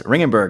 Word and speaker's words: Ringgenberg: awesome awesome well Rittenberg ladies and gentlemen thank you so much thanks for having me let me say your name again I said your name wrong um ringenberg ladies and gentlemen